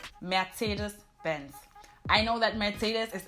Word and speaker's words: Mercedes-Benz: In German, you would say Mercedes-Benz.